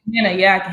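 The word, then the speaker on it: Gahanna: So now you start off your high school career in Ghana, Ohio, right? Or Ghana, is that how you say it? Ghana, Ohio.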